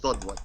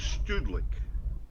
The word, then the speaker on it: Sudlik: But anyways, it's just pronounced Sudlik, S-U-D-L-I-K. Sudlik? Sudlik, that's it. Sudlik. Right, okay. The Polish pronunciation is Studlik, but in America, in English, it's Sudlik.